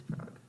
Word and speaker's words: Prague: It's Prague. Prague. Prague. It has an A in it. But it's Prague. Is she right? You also don't pronounce the UE at the end. It's not Prague. It's just Prague. I think Prague.